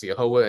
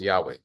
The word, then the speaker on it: Yahweh: discussion week by week you'll hear us pronounced the name as yahwah and you'll hear also many people around the world pronounce the name as Yahweh and that is the